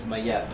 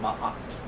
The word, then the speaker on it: Ma'at: a woman who told me that the correct pronunciation is Mayet.